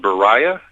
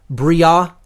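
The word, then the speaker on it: Beriah: Slightly off on the pronunciations, but I'm not going to, hold it to that, level of specificity. I would say if I were to give the correct pronunciations as closely as I know them to be, it's Asiyah, Yetzirah, Bria, and Atzilut.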